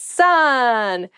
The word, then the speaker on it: son: It's son. A male child is someone's son. Son, S-O-N, is pronounced exactly the same as S-U-N, son.